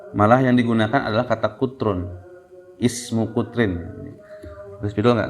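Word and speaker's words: قطر: Itu dibacanya kutron ya, kutrun. Kalau pakai fathah, kotor itu negara Qatar ya.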